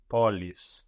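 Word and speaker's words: πόλεις: Polis. Polis, good. I polis. So this is just like adding an S to poly, polis, but this is spelled EIS, this plural ending.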